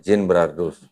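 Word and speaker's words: Genebrardus: Kristen namanya Jin brardus g e n e b r a r d u s Gin brardus tulisannya bacanya Jin brardus dia menulis di bukunya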